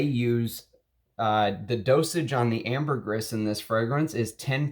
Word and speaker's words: ambergris: ambergris and it's not ambergris it's ambergris that's how you're supposed to pronounce it that's what he says the people in the trade call it so you're supposed to pronounce that s whether you do ambergris